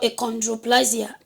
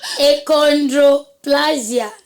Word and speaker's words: achondroplasia: Yeah, symptom called achondroplasia. Can you please teach me how to say it? Achondroplasia.